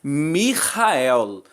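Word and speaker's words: מיכאל: que nós temos na verdade é a expressão mijael Michael que é exatamente como está aí na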